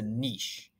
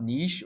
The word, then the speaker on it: niche: hopefully you did remember it could be pronounced Niche or Niche either one's fine and for us I